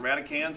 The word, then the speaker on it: radicand: It's pronounced radicans.